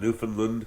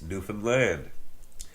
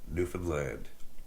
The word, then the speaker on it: Newfoundland: very friendly uh manner we say understand Newfoundland just like that same same syllables same same sort of